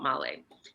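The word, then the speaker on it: Malé: city in the capital which is called malay and it's spelled like mail so i'm saying hey so this is mail they're like okay and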